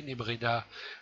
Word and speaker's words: Nebreda: Didier comme Didier, Nebreda comme ça se prononce, N-E-B-R-E-D-A.